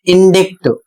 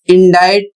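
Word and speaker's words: indict: अगला शब्द है आई एन डी आई सी टी और इसे पढ़ा जाता है इंडज 90% लोग इसको पढ़ते हैं इंडिक जबकि इंडिक गलत है और इंडाइट का अर्थ होता है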